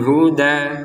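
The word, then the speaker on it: الْهُدَى: Addolata bil huda seperti itu. Huda kita panjangkan dua harakat.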